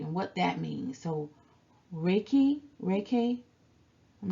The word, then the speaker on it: Reiki: So Reiki, I'm not sure how to pronounce it. Reiki. Reiki is 2 Japanese words, right? Rei and ki.